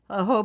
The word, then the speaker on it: jojoba: But then I take that and cocoa butter, jojoba oil. Is that how you? Jojoba Jojoba. oil. Yeah, jojoba. Yeah, it's spelled jojoba.